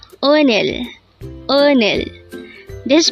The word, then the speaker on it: 오늘: Onel. Onel. This is pronounced as a twocllable word. The first syllable is o and the second syllable is null.